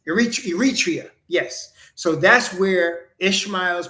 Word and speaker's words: Eritrea: Iteria. I can't even say it right, but yes, Eritrea.